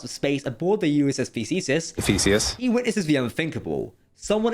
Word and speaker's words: Theseus: starship by the way, the USS Theseus? Thesaurus? I don't know. Image on screen now, and maybe Troy can stick a pronunciation guide for that ship on screen as well, because 100k subscribers and we're still bad at pronouncing things. Just happened to have it on me, Theseus, but it seems to keep upsetting you.